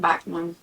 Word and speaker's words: Backman: I'm gonna have to look this up because I feel I always pronounce it wrong. Well, they're saying Backman, so Frederick Backman.